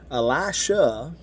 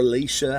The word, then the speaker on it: Elisha: elijah went into heaven elisha or alicia however you say you know people pronounce it different ways um but i'll say alicia just so we you know we don't because sometimes it sounds so close to the same but you know when elijah